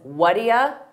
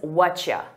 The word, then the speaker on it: what do you: Have you heard that native speakers pronounce what do you as whatia? Whatia? We combine all those sounds together. Whatia. An alternative is whatcha. Whatcha. And I use both of them equally, so it's important that